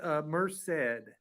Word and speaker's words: Merced: It's Merced.